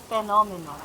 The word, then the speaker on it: phenomenal: uh earlier you said phenomenal uhhuh phenomen yes please remember the pH there will sound F okay okay I see